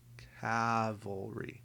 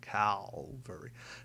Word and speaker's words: cavalry: I'm cavalry. There we go. Not Calvary. Cavalry.